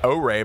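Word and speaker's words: Oure: O-Ray, by the way, is how that's pronounced, if you were wondering.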